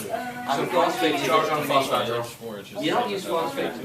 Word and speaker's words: phosphide: It's not phosphate, right? Like, I love him, but I hate him. It's And he keeps saying it wrong. So he wants to be real mean, get on my YouTube. He's so nice in the comments. He's Phosphate's something different.